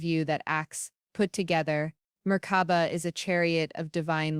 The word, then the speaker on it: Merkaba: In their sacred tongue, they whisper a word, Merkaba, a word of power, Merkaba, three syllables, each resonating with ancient force.